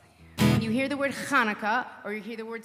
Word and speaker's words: Chanukah: Now, sometimes we say Hanukkah, sometimes we say Chanukah.